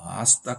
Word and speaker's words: hasta: ¿Hasta cuándo? hasta 하지 마시고 hasta. H는 묵음이 되겠습니다.